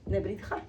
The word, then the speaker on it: Nebrija: Somos, Paola Fernández, que es filósofa, doctoranda en educación, ahora actualmente profesora de la Universidad de Nebrija. ¿Cómo se No, pronuncia?